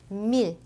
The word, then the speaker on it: mille: village, tranquille, mille. 이때에는 영어의 L과 유사한 발음으로 됩니다. 이으가 아니라.